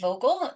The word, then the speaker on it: Vogel: And I am here with author Amy Vogle. Is that how you pronounce that?